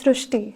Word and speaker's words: Srishti: We have heard of Srishti, but this is a very unique name, Srishti. So in Marathi, the word Ri is pronounced as Ru. So that is why the pronunciation goes Srishti.